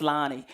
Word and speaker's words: Lani: So a little bit about me, and I'll tell you how I got my name a little bit later, but it is pronounced Lani.